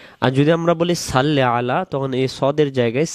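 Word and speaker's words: صَلِّ: আল্লাহুম্মা সল্লি আলা, আমরা এটা বলি সাল্লি আলা, এটা হবে সল্লি, সদ জবর স। আর যদি আমরা বলি সাল্লি আলা, তখন এই সদের জায়গায় সিন উচ্চারিত হবে।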